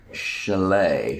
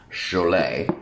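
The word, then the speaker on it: Chollet: Derek Chalet. Chalet. Chalet. Like the ski cabin, or No, that would be a C-H-A-L-E-T. This is C-H-O-L-L-E-T. So, officially, the counselor of the department, Derek Chalet.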